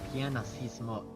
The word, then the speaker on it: pianissimo: uh pianissimo How do you pronounce that?